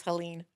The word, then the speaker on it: Helene: The pronunciation, I was like, is it Helene or Helen or Yeah. Then we went on TikTok Helene. and we found out it was Helene.